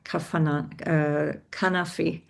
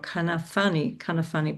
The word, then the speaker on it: Kanafani: an activist called Hassan Kanafi. Sorry, I've got the name wrong. Kanafani.